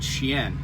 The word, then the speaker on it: chien: whatever you know that the word sheen c-h-i-e-n that's how the locals say it is really the french word shien which means dog and apparently that name